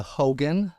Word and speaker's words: Haugen: grandfather is Norwegian, and the name should be pronounced Haugen. And if you look at it, it's Haug. Yeah. He changed it to Haugen, the pronunciation, because it's more American.